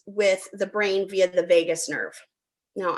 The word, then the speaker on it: vagus: And it says the microbiome communicates with the brain via the vagus nerve. Now, I am from Las Vegas, but it is spelled different. It's VAGUS.